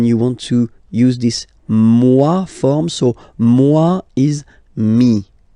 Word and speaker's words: moi: Okay, moi, so it's me, moi. So remember this OI combination give you the sound wa wa wa, moi.